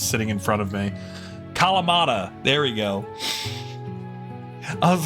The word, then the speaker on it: Kalamata: I couldn't remember how to pronounce the Kalatama olives. I can never remember how to pronounce that word unless it's sitting in front of me. Kalamata.